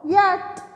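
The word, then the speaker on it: yacht: is the spelling of yet y a c h t yet here spelling is y a c h t but CH is silent so you will say y for yet okay now next one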